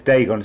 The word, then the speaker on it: Dagon: esoteric order of what dagon dargan i don't know how you pronounce it there's a masonic hall here yeah it's dagon some kind of mesopotamian